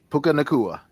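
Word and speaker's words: Puka Nacua: Um, I even see um uh is this how you pronounce his name? Puka Naka Puka Nakua for the Rams.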